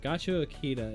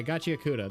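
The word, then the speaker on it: Gachiakuta: Gacha Akita is not right. Gacha Akuda? Yeah, Gacha Akuda. That's right.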